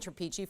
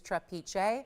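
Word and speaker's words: trapiche: Trapeche is really the proper pronunciation. I've been saying trapeche for years. That's how I learned it, but the technical, actual correct pronunciation is trapeche.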